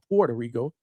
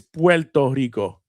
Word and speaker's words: Puerto Rico: Every time I say Puerto Rico, uh, Mrs. DHS wants to hit me upside the head with something. It's Pto Rico.